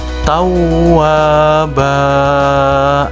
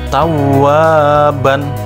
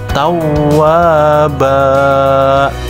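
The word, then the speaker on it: تَوَّابًا: paham dan ingat ya maka dibacanya adalah tahu aba Jadi bukan tahu aban tetapi tahu wahba nah anak-anak coba kita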